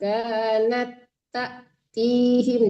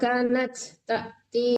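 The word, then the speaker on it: كَانَتْ تَأْتِيهِمْ: Kanat nggak boleh diputus ya Bu. Dia kan menyambung ke tak. Kanat tak tihim. Jangan kanat tak ti. Nggak boleh putus naknya itu. Langsung ke tak depannya.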